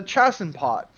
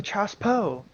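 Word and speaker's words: chassepot: I first read it I call it the chassen pot that's the American um but it's actually pronounced the Chas po CH Po and um what was neat is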